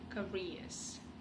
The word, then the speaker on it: career: Are all typical careers. Типичные карьеры. Typical careers. Ударение все как следует, да, чтобы не получилось слово вместо карьера, не получилось слово носильщик.